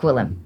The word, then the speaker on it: Gwilliam: So, now I just say it's G. William. Yeah. Yeah. Yeah. But Gillum. Gulm is how you pronounce it.